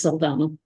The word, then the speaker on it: Saldanha: Their last name is Saldana, That's how they pronounce it. except they have an H in theirs.